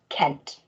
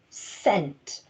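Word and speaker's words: cent: they use in america this doesn't say kent instead this letter is making an unusual sound it's making a soft s sound and we do call it our soft c so this letter here is making the soft c sound so this word actually says sent that's the type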